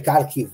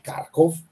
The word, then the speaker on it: Kharkov: Kupiansk, in direzione di Kharkov. Il primo che dice Kharkiv lo prendo a calci perché si dice Kharkov in russo.